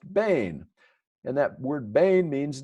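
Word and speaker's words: בין: in the original Hebrew that's pronounced Bane and that word Bane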